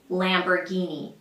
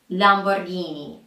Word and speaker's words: Lamborghini: This car brand in the US they say Lamborghini. Lamborghini. It's an Italian car brand and in Italian it is pronounced something like Lamborghini. Lamborghini. Lamborghini.